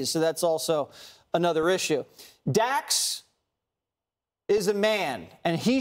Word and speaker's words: Dax: Dax.